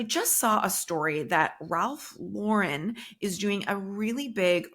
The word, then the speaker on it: Ralph Lauren: and key company Executives refer to him as Ralph Lauren not Ralph luren so if you have